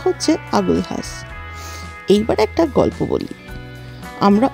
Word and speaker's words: Agulhas: হ্যাঁ বানানটা এল দিয়ে শুরু হলেও উচ্চারণটা হচ্ছে আগুলহাস।